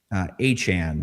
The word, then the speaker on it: Etienne: paid market value for Travis Achan, by the way, it's not Etienne. Yeah, new way to say it, guys. Keep it in mind. Want to make sure we say it right.